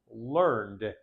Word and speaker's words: learned: verb learn which becomes learned the E is not pronounced learned this e that